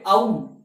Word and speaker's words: ঔ: সংস্কৃতের ক্ষেত্রে কিন্তু ঐ এবং ঔ এই উচ্চারণটি সম্পূর্ণভাবে ভুল। তাহলে এর উচ্চারণটা কিরকম হবে? না ঐ এবং ঔ এই বর্ণটির উচ্চারণ হবে আই। আই আর নিচেরটা হবে আউ।